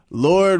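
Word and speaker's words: Lorde: It has a E on it but when you say it you can't hear the E. Who is that? Like she should pronounce it Lordy.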